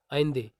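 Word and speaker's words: Allende: अब इसका जो नाम है साल्वादोर अलेंदे हम बोल रहे हैं, लेकिन इसका जो प्रोनाउंस है वो है आइंदे। आइंदे यहाँ पर आप बोलेंगे, ठीक है।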